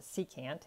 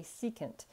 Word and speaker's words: secant: Now, depending on if you're from the north, we pronounce it secant. If you're from the south, people say secant. According to the internet, both are correct.